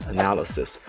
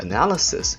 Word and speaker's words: analysis: Most students know the word analysis, but analysis has 4 syllables, so its stress is shifted from the first syllable to the second one.